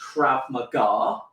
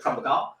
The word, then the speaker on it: Krav Maga: Obviously, it's Hebrew, so it's actually pronounced Krav Maga. Okay, in the UK, sometimes in the US they call it Krav Maga.